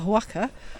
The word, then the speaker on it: Oaxaca: How do you pronounce it? Oaxaca.